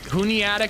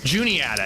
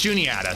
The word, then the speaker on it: Juniata: Juniata. It's Juniata. Sorry, I know I mispronounced it.